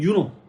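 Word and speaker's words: Juno: 헤라, 혼인, 출산의 여인, 주노 또는 유노, J 발음이 독일어에서는 U 발음이거든. 라틴어에서.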